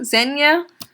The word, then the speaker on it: Zegna: so this is I think our mini gildo Zegna Zegna it's how you pronounce that it's this again this - I've